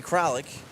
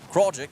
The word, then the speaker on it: Kraljic: It'll be Zietz, Rakowski, and Joey Kralik, or Kraljic, my apologies, 8-9-1 due up in the order.